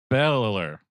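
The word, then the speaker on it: Begley: How do you pronounce that, Chris? Beller. Ed Beheller played the president in this.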